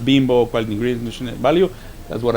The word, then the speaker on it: Bimbo: main issue was say bimbo right how to pronounce it although the logo is with an i we say pronounce it like if it was double e okay well that's one